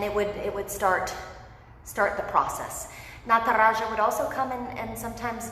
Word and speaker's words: Nataraja: And even though he's you know, a fictional deity, he still deserves the respect of us pronouncing his name correctly. So Nataraja, we're gonna see his pose here, I promise, in a few quick moments.